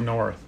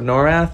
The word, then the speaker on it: Norrath: Oh, man. Champions of North. So, Champions of Norrath, I think it's Return to Arms. I said it wrong.